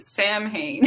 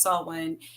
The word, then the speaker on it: Samhain: the holiday is yes a lot of people pronounce it samhain herself yeah that's what i do i say that yes now it's it's a it's pronounced saw when it's actually it's october 31st through november first